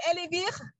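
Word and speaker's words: Elle & Vire: This cream, we can find it in Singapore, Elenbir, right? J'ai bien prononcé, c'est Elenbir.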